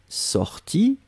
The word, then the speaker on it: sorti: Que je sois sorti, I masculin, que je sois sorti, IE féminin, on prononce de la même façon.